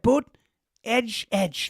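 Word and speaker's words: Buttigieg: And when they took over Buddha instead of boot edge edge, he said booted.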